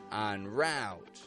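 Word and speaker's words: en route: cow Tow and finally words adapted from the French language spelled with e n entrepreneur Onre oncore on Route take action on the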